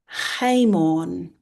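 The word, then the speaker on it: Haemon: Haymon uh is Hmon. Hmon. It's a a name that begins with the alpha.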